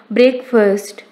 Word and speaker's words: breakfast: Correct pronunciation is breakfast, not breakfast.